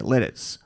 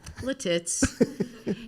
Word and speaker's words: Lititz: a big soundstage in this town in Pennsylvania, Lititz.